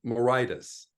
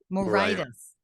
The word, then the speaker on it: Moraitis: last name oh it's a good Greek name morius morius okay Mor all right well so you and